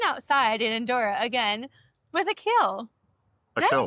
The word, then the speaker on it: Akhil: We are sitting outside in Andorra again with Akhil.